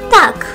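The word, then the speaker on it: то: Tak ahorra muchas palabras. Tak, continuemos. Pero se ahorra mucho más palabras cuando adicionas to a esto. To se pronuncia como ta.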